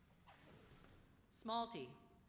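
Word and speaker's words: smalti: Smalty, pieces of colored glass or enamel for use in mosaic work.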